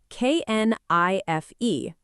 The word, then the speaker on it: knife: Think about the word knife, k n i f e, but we say it knife. The k disappears completely.